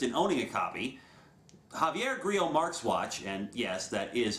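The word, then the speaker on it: Grillo-Marxuach: have no interest in owning a copy Javier Grille marks watch and yes that is how his last name is actually pronounced has put an official video on YouTube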